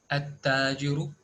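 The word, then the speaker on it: التَّاجِرُ: At-tajiru, at-thawbu, ad-diku, az-zahabu, ar-rajulu. Can you observe that lam is not pronounced?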